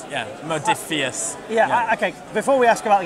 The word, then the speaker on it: Modiphius: Modiphius. Modiphius. Yeah. Fair enough. So as you said, how do you pronounce it? Greek sounding. Yeah. It's Modiphius.